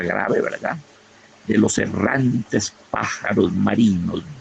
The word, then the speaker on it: pájaros: Quiero vivir la vida aventurera, palabra grave, ¿verdad?, de los errantes pájaros marinos. 2 graves, errantes marinos, y una esdrújula, pájaros, con acento en la primera sílaba, como debe ser.